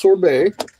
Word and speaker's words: sorbet: Well, it's pronounced sorbet. Like, just take the T away and it would sound exactly the fucking same.